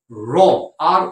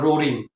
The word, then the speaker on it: roar: In English we call it Tigers রোর, ROAR। Please don't pronounce it অ্যাজ রো, অনেকে the tiger R রোরিং, ইট ইজ নট রোরিং, the pronunciation should be রোরিং। অনেকটা RAW-র মতন pronunciation হবে, RAW, অবশ্য RAW means কাঁচা, র meet, কাঁচা মাংস।